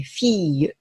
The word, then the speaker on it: fille: 例えば、女の子という意味の単語、これフィーユですね。